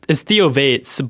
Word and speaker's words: Theovates: Theovates? Or is it actually Theo? It's Theovates, but my real name is Theo. So it's like Innovates combined with Theo.